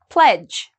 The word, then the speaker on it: pledge: don't pronounce the d pledge okay um pledge again all of these actually kind of rhyme you see the D and the g together we don't pronounce the d grudge grudge same rule